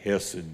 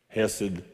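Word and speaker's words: hesed: an English translation of the Hebrew word h-e-s-e-d I'm gonna say hessed this time hessed acid a seed I've heard it pronounced so many ways I don't know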